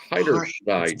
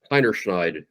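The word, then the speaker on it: Heinerscheid: Alyssa Heiderschneid. It's Germanic. Heinerschneid, I think is how you say her name.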